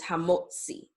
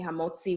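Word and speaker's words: המוציא: middle of a word, it'll sound like the double Z in pizza, okay? That T and that S sound together. In English, it will either be represented as TS or TZ. And again, it's that same T sound that's made by the double Z, as in pizza, or the TS that you have at the end of a word like boots, okay?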